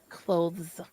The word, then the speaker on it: clothes: you close the door he says clothes like the th he emphasis he pronounces the th like clothes well that's just good